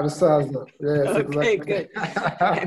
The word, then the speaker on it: Rusaza: And somehow I met Mahame Andrew, and your name, Rusaza. Is it right? Yeah, Rusaza.